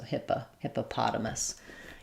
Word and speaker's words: hippopotamus: So, hippopotamus. You can start on the stressed syllable, hippotamus, and then go back to adding your first two unstressed syllables.